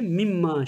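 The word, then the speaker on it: مما: Min ma birleşince mimma şeklinde okunuyor.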